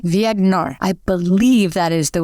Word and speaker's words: Viognier: can pronounce this correctly, Viognier. I believe that is the way it is pronounced. It's a French pronunciation, and I may have it slightly off.